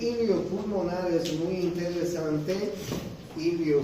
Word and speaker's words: hilio: pulmonar es muy interesante ilio se escribe así con h ilio pulmonar ustedes pueden